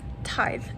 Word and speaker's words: Tithe: Tithe by Holly Black.